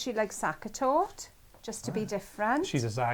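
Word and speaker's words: Sachertorte: Sue Hare says she likes sakatort, just to be different. She's a zaga, and you There's you're that. Now, zagging with I've seen a Have you? sakatort, but I've never tasted it.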